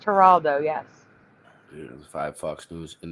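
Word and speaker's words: Geraldo: It's spelled It's pronounced Haraldo.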